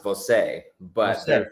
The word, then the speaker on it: Voce: So technically, it is pronounced Voce, but Voce.